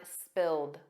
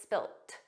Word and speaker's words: spilt: In American English, it's always spilled, a soft D, but in British English, it's spilt, spilt. So you might hear spilled, you might hear spilt, but those final sounds aren't